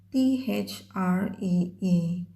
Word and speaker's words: three: Dalam bahasa Inggris, kalau ada huruf TH itu dibacanya punya trik khusus. Jadi, how to make sound TH, put your tongue under your teeth. Okay, like this. And then you push your tongue.